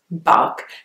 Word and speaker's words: Berkshire: county in England and it's got a II after the beat which would suggest that you should say Burke but actually its bulk and the bit at